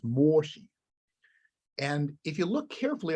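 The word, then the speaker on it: Mōshi: It's a Japanese edition of the Mengzi, which I believe in Japanese is pronounced moshi.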